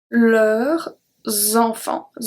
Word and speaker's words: leurs enfants: If you look at the plural one we have, ils viendront avec leurs enfants. Enfants. Even though we don't pronounce the S at leur, it's going to